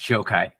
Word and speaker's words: Gjokaj: uh the introduction uh my last name is joke ey it's pronounced joke ey whoa where's that from